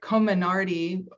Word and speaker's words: Comirnaty: The member says the order from SecDef states specifically the FDA approved vaccine, never say it right, Comirnaty, which is also the Pfizer vaccine.